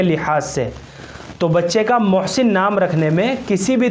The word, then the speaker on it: محسن: محسن بڑے ہا کے ساتھ، یہ اس کا صحیح تلفظ ہے۔ سب سے پہلے آپ